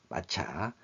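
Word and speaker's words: 抹茶: 그리고 일본인이 가장 즐겨 마시는 차는 입차인 전차, 센차로 발음하죠. 와 가루차인 말차, 마차.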